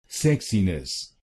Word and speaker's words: sexiness: Sexinness, and here you have to stress the first syllable. Sexinus sexiness.